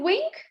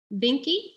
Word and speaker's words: Vinke: And Melisa, is it Wink? Vinke? Vinky? Okay. Vinke.